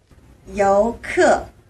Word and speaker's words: 유커: 어디는 요커 어 이게 실제로 이제 발음이 중국인들은 어떻게 발음을 하는지 저희가 한번 준비를 했거든요 직접 한번 한번 같이 보시죠 요크 요크 요크 요쿠 그죠 우리 우리는 요커 유커 뭐 이렇게 부르는데 요크 뭐 뭐 크로 끝나는 거 같이 발음이 우리랑 조금